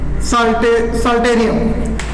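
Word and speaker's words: psalterium: तीसरा बेटा आता है, तीसरा जो है उसका नाम है ओमासम, ओमासम, इसे बोलते हैं हम लोग, पी साइलेंट है, साल्टेरियम, साल्टेरियम, ठीक है।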